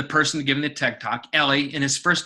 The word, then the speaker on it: Eli: Ellie Pariser is the name of the person giving the TED Talk. Ellie, and his first name is spelled E-L-I.